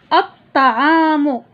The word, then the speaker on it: الطعام: أتلفظ وأسمع: ال زائد قدم، القدم، ال زائد طعام، الطعام، الطعام، القدم، الطعام، كرة القدم، القمرية، مائدة الطعام، الشمسية. لاحظوا معي في الشمسية اللام لا تنطق.